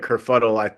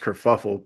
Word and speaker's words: kerfuffle: I think he said kerfuddle. I believe it's pronounced kerfuffle, but it is definitely that.